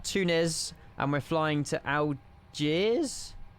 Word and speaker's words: Algiers: The S is silent. Algier.